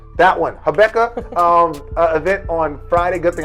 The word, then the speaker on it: Habakkuk: Riley's Habakkuk. It's a Bible. It's a Bible book. Habakkuk. That one. Habakkuk.